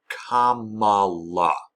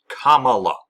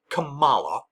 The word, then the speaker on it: Kamala: what her name is there's one way to pronounce it Kamala Kamala it's not hard say it with me Kamala Kamala Kamala Harris it's not hard it's not Cala or As Trump will